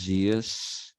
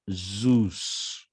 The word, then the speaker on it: Zeus: It is not pronounced Zeus. It is Zeus.